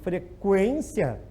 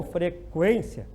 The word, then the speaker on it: frequência: Se for pronunciado, por exemplo, frequência, o U já é pronunciado, então não é dígrafo, certo? Então o U não pode ser pronunciado, porque ninguém diz frequência, né? Esse aluno tem um problema de frequência às aulas, né? Quem vai dizer assim, né? Então tem que pronunciar o U, frequência, aí já não é dígrafo, tá?